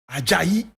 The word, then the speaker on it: Ajayi: James Kahinde Ajayi. James Kahinde Ajayi. And Kahinde is spelled K-E-H-I-N-D-E.